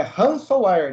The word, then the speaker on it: ransomware: olha só demorei uns três meses para saber pronunciar essa palavra corretamente como é que é o nome mesmo então é ransomware né ransom ransom ransom ransom where ransomware eu